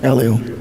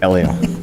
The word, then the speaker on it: Elio: The movie is Disney's Elo. Is that how you pronounce it? Elio. Elio.